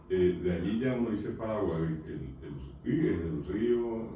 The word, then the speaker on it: Paraguay: Paraguay ya es un nombre guaraní, correctamente pronunciado Paraguay, que significa el río del mar que desapareció.